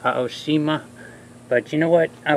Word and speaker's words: Aoshima: the polish EEMA now I think it is pronounced Oshima but you know what